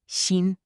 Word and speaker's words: 新: Today, we're learning 10 common Chinese words with the character xin, pronounced xin.